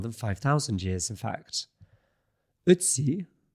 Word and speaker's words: Ötzi: Ötzi, and that's an attempt at a German pronunciation of an O with an umlaut.